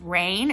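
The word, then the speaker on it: Raihn: male character I think his name is pronounced rain it's r aihn he's amazing I love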